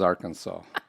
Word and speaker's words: Arkansas: It is strictly prohibited to pronounce the state's name, Arkansas, incorrectly. This is Arkansas.